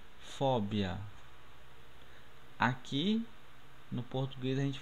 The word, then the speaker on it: fobia: No português a gente pronuncia fobia, né? Isso? Em espanhol pronunciamos fóbia.